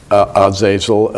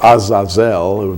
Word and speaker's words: Azazel: fallen angels was called as a gel or Azazel be pronounced in Hebrew and from the Book